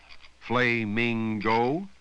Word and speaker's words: flamingo: Would you say flamingo or flamingo? The first vowel is unstressed, so it has the sound.